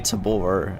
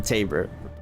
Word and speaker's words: Taber: So, I I understand people call me Tabore all the time and I'm Taber.